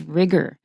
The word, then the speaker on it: rigor: rigorous the noun is rigor the noun is spelled RI Geor don't say rigged or we pronounce the O like her so the adjective form